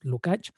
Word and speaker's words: Lukács: me parece que era giorgi lukach lukács no sé exactamente cuál es la pronunciación es lukach que tiene este tiene